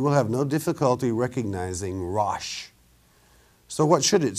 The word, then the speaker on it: Rosh: In the Hebrew, the words translated into English in the Hebrew manuscripts are R-O-S-H, pronounced Rosh.